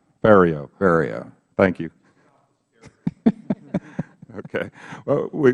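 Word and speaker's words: Ferriero: off saying yours wrong rhymes with stereo Theo bar thank you okay well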